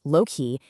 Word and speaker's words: loci: Well, loi, pronounced low-key, is just Latin for places.